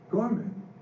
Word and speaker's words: Gorman: He says, no, Gorman, it's two syllables, Gor and Man.